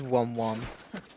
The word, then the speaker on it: Wom Wom: Look, made of metal look here's Wom Wom. That's Wom Wom? Ironic. That's Wom Wom. Wait, how do you spell it?